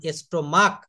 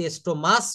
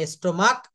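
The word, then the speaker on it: stomach: যেমন এস্টোমাক, এখানে কিন্তু এস্টোমাস বলছি না, দেখছেন? এখানে এস্টোমাক, এক্সটোমাক্স।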